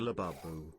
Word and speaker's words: Labubu: Go get a labubu. Labubu is how you pronounce it.